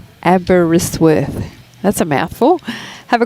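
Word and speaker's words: Aberystwyth: FYI, Abbottzsworth is pronounced Abberisworth.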